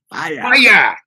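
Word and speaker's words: Fiyah: It's called Fire. And it's spelled F-I-Y-A-H. Fire.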